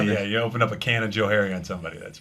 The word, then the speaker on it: Canajoharie: I grew up in a little town about 50 miles from here called Canajoharie, New York. Canajoharie. Canajoharie.